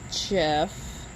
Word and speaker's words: GIF: Yeah, so my best friend and I basically speak nerd, meme, and Jeff. She says GIF, it's Jeff. I have it on authority that it's Jeff.